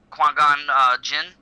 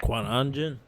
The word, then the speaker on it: Qui-Gon Jinn: He's Qui-Gon Jinn, right? Qui-Gon Jinn.